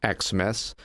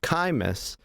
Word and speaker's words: Xmas: So Xmas isn't actually pronounced Xmas. It's actually pronounced Chimas, and it means Christmas or Christ's Mass again.